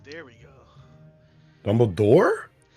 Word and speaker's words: Dumbledore: on Harry's dick Snape dumble dorf there we go Dumbledore is how you say it no F at the end please for some respect in